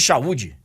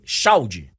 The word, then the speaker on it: Xaud: O perguntador, o entrevistador, tava o chamando de Chaúde. E eu imaginei que ele tivesse perguntado qual a pronúncia correta e tal. Mas agora eu estou sabendo, é Samir Chaldie. e não Chaúde.